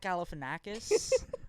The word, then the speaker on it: Galifianakis: But then, like, Zach Galifianakis.